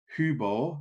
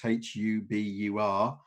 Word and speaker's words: Hubur: for sake of argument, call Hubor, which is Hubur, as a spell.